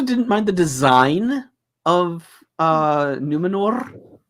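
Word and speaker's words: Númenor: I also didn't mind the design of Numenor. Why are we rolling our R's? Because that's what because Galadriel does it all the time. Numenor. Yeah, she pronounces it Numenor.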